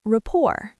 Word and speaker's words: rapport: Getting lunch together helps build rapport. Rapport. R A P P O R T. The T is silent.